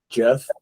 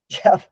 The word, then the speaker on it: Geoff: It's Geoff. Jeff. Jeff. My name is Jeff. Yeah, my name is Jeff. That's one way you spell Jeff.